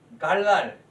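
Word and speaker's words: גָּלַל: 단어로 이렇게 되어 있고, 갈랄, 히브리어로 이게 갈랄 발음이 되죠.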